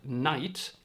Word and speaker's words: night: Another example is the word night, which also contains a GH, which used to be pronounced Nicht, and the German word for it is Nacht.